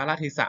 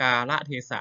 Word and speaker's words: กาลเทศะ: แดง นะ ครับ อ่า อ่าน ว่า กาละเทศะ นะ ครับ คือ ก ไก่ สระ อา ลอ ลิง สระ เอ ทอ ทหาร สอ สา ลา สะ นะ ครับ อ่าน ให้ ถูก นะ ครับ กา ละ เทศะ